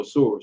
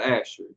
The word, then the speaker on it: Ashur: Is that how it's spelled? Go on. Ashur. Asur. Asshur. Asur. All right, so Asur. So that's not. All right, so that's not Asher.